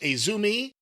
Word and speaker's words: AZM: We've seen her name before, AZM, but apparently it's pronounced Azumi, and I had not seen her wrestle AZM before.